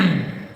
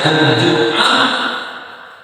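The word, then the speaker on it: Al-Jumu'ah: sunahnya itu membaca surah apa namanya Al ada membacanya aljumah ada yang menyebutnya aljumuah tapi kalau kita lihat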